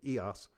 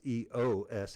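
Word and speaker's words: EōS: hot tub called it EOS so I guess they don't pronounce eoos it's EOS I joined that Nationwide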